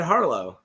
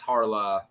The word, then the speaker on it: Harlaw: Is it Red Dead Harlow, right?